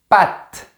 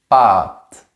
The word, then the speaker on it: patte: En France, on prononce toujours le mot patte comme ça, avec la langue plus vers l'avant. Patte. Mais au Québec, ils ont un autre son et ils disent pâte. Comme ça, avec la langue plus en arrière.